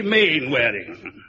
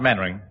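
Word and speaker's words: Mainwaring: square you must be main-wearing oh how to do colonel actually it's pronounced mannering then why the hell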